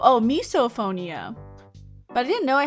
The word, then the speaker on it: misophonia: It's called misophonia and it's pronounced as miso. Oh, misophonia.